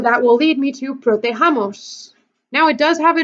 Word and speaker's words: protejamos: We don't want protegamos, we want protejamos.